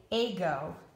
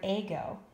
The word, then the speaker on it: ago: after the first owl if I put the accent on the first syllable that would make this a a go I've never heard of the word a go but if I move and put the accent on the second syllable now it can say I'll go ago is a word let's look at